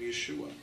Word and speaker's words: Yeshua: 그 이것은 신학적인 문제가 아니라 It was because Greeks couldn't say sh.